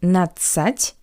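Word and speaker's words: надцать: The letter D in the ending natsat is not pronounced.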